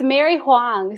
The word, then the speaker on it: Mary-Huang: It's Mary-Huang. So it's like Juan, but with a G.